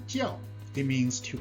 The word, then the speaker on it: 叫: to learn today is pronounced the fourth tone jio it means to call